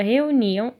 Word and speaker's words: reuniam: Então, percebam que o som mais forte da palavra reuniam está no ni. Reuniam.